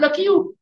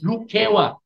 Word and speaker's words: Lukewa: Even then, for over 200 years, people misread or mispronounced the word Lukewa as Lekiu. It's not Lekiu, it's Lukewa.